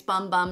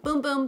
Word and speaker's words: Bum Bum: get comments saying it's bum bum not boom boom but know it the brand actually likes it pronounced boom boom they're from Brazil we've